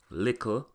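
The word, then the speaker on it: likkle: For example, the ending TTLE in Patwa is KKLE, so words like bottle, little, kettle, metal become buckle, lickle, keckle, and meckle.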